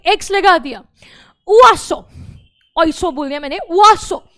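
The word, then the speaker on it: oiseaux: तो यहां पर जो ये एक्स है दैट इज साइलेंट, तो that is उआसो, this is also उआसो, bird.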